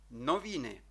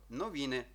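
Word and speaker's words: noviny: маємо літеру Н так новіни новини знову бачимо три склади читаємо рівненько новини і воно означає газета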